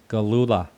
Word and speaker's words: Gillula: And I'm here with, and I hope I pronounce his name correctly. That's one thing I forgot to ask him, is Dr. Jeremy Gillula.